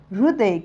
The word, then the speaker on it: हृदय: हिंदीच्या उच्चारणामध्ये हिंदीच्या लेखनामध्ये जेव्हा या हृदय किंवा री दचा उच्चार होत असतो त्यामध्ये या री या री किंवा या रु मध्ये जो उच्चार होत आहे तो कसा होत आहे अगोदर ह चा उच्चार